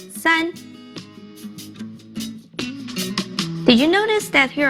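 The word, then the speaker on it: 三: hung here's one more it means three it's pronounced sun did you notice that here are three hung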